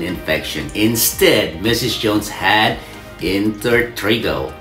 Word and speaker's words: intertrigo: instead Mrs Jones had in Trigo or sometimes we pronounce it as inter Trigo also known as inous